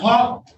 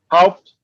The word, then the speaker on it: Haupt: Is that Huck? How do you pronounce that last name? It's Haupt, Your Honor. Huck? Haupt, like how, then I had a PT at the end.